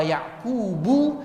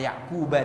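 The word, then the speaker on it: يعقوب: Ada ulama membacanya wa Ya'qubu dan ada yang membacanya wa Ya'quba dan maknanya berbeda. Nanti kita akan jelaskan.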